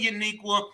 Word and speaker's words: Yaniqua: So my YouTube channel, my name is pronounced Yaniqua. I know it's spelled funny, but Yaniqua, my bad.